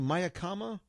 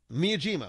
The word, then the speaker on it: Miyajima: When we went to, I want to say Mayakama Island. Miyajima. When we went to Miyajima Island, they're famous for their oysters.